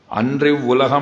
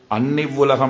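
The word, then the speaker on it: அன்று இவ்வுலகம்: சரியாக உச்சரித்தேன் சொல்ல முடியாது அன்றி உலகம் அளந்தாய் அடி போற்றி அப்படின்னு தான் சொல்லி இருக்கணும் ஆனா சொல்லும்போது அன்னிவ்லகம் அளந்தாய் அடி போத்தி அப்படின்னு சொன்னேன் நீங்கள் எந்த திவதேசத்துக்கு போனாலும் எந்த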